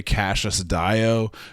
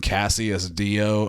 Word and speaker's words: Cassius Dio: which meant the foremost historian of the day, Cassius Dio, who I was pronouncing Cassius Dio until literally just like yesterday, and then I